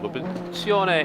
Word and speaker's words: competizione: How to pronounce competizione? Don't put any strange accent. Competizione. That's it.